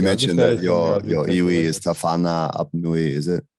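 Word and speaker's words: Te Whānau-ā-Apanui: So you mentioned that your iwi is Tawhana Apnui, is it? How you say it? Yeah, Te Whānau Apnui.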